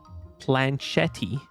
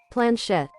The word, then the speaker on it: planchette: But after March 7th ask, as you can prove her sword skills, the Spiritfarers slyly begin to nudge the planchetti ever so slightly.